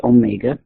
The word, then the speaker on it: omega: the symbol lowercase Omega it looks like a w okay but it's pronounced Omega and it is called